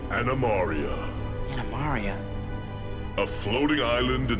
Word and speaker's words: Animaria: To a place called Animaria. Animaria? A floating island in the shape of a turtle that lies hidden under a thick cover of clouds. 1. You mispronounced it. Animaria, not Maria.